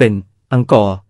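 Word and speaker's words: Angkor: จาก คำ เรียก นครวัด ฝรั่ง ออก เสียง เป็น อังกอ ก็ ออก เสียง ตาม เขา เป็น อังกอ วัด ข้อ 3 นัก วิชาการ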